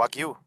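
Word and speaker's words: Wagyu: né um mundial entendeu aquele corte é o aguil é assim que se pronuncia é uma é uma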